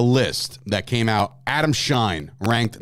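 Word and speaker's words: Schein: But it is Adam Shine, and he put out 9.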